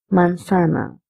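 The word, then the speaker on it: manzana: You can also call this mansana because zed's pronunciation is s also.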